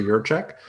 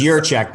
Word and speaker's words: Jiracek: my full name your check um you know you might want to spell that because it you know your last name is your check but it's not spelled like your check so tell the audience